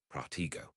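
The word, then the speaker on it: Protego: You should know Protiggo. When reciting the incantation, T must be pronounced with an accent, and the connection with go must be close.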